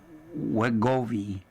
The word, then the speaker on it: Wegovy: Schmidt discovered animal and cell research demonstrating that GLP-1s, the class of medicine that include Ozempic and Wegovy, that's spelled w e g o v y, could treat concussions.